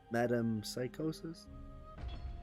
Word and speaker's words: metempsychosis: Don't know how it's pronounced, but I know I spelled it right. Well, let's just look it up. Metempsychosis.